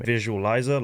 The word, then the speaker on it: VizuaLizah: You guys didn't know it's pronounced VizuaLizah as well. I feel like people do struggle saying my name. VizuaLizah, like literally like a visualizer.